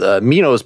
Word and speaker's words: Meno: So that is a thing, I'll just spell it out in philosophy, called Meno's paradox.